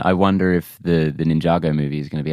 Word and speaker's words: Ninjago: n how do you say ninjitsu nitsu Ninjago Ninjago thank you uh N I have the same